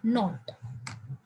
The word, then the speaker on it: knot: उसे हम कहते हैं पामिर नॉट। मैं यहां लिख रही हूं बीच में स्पेलिंग, पामिर नॉट, KNOT, के साइलेंट है, नॉट का मतलब होता है गांठ बंधना, ठीक है।